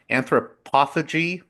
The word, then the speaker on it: anthropophagy: way the film deals with anthropoph I always mispronounce it? Anthropophagy.